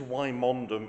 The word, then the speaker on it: Wymondham: have a name spelled this way this is why mondom in leerer which is on no account to